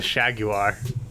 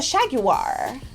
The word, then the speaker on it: Jaguar: it's a Jaguar okay it's a shag you are it's the Shag wire tell us Brax as you grew up in England how do you pronounce family you know I I and you're I just checked I was thinking of a different dimension where it was yeah you already mentioned it's the Shag you are yeah I know